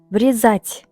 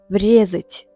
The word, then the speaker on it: врезать: Врезать. Бұл жерде екпін екінші буынға түсіп тұр. Ударение. Врезать. Сондықтан да бұл NSV, ал оң жақта SV. Ол жерде екпін бірінші буынға түсіп тұр. Врезать.